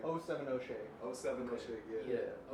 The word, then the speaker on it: 070 Shake: Like 070 Shake.